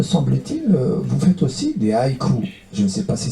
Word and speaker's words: haïku: Et en plus de la poésie, me semble-t-il, vous faites aussi des haïkus. Je ne sais pas si c'est comme ça qu'on prononce. Exactement, des haïkus, des haïkai au pluriel, notamment.